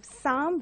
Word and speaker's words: psalm: And you have psalm, which is a poem. And here you have P and L as silent.